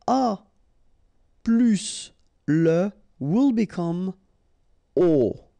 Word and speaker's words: aux: Okay, so you can see that here you combine a plus les, and you will get this aux, okay? And then phonetically you produce it or you pronounce it o.